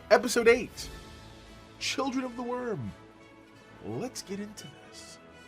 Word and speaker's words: wyrm: of the worm and by worm that's spelled w-y-r-m okay worm many of you who plays